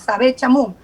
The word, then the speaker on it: Sabett Chamoun: estado subrogante quiero pensar les es tan difícil pronunciar mi nombre es sabe chamo que por eso no lo hace quiero pensar